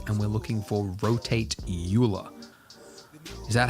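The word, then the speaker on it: Euler: is underneath utilities and we're looking for rotate Ula is that how you pronounce that word YULA Ula that is right Oiler oh oer come on way Oiler wow oer Oiler Oiler no that's wrong Leonard Oiler right all right that's that is wild that's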